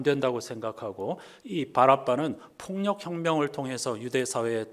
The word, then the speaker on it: 바라바: 이름이었습니다 바라바는 무슨 뜻인가 정확하게 발음하면 바라빠 이렇게 되는데요 아빠의 아들이라는 뜻입니다 신약성서에